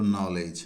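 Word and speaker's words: knowledge: में क्या हो जीई डी के बाद में जीई दे रखा है तो डी का उच्चारण नहीं करेंगे साइलेंट रहता है यहां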